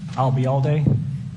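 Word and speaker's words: Albayalde: If you remember the phrase, I'll be here all day, and drop the here, I'll be all day, you got it.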